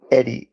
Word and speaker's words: Eyde: Now, there was a man named Christian Birkeland, and there was a man named Sam Eddy, which is spelled weird. It was EYDE, Eddy.